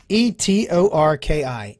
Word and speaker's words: Etorki: I'll spell it. E-T-O-R-K-I.